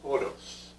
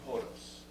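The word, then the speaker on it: ὁδός: be other vowels but the o is pronounced ho and then that's the s trailing sigma it's nothing that would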